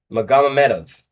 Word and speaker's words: Magomedov: Magomedov.